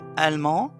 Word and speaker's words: allemand: l'aigle la nationalité c'est allemand avec un D qu'on prononce pas et allemande avec e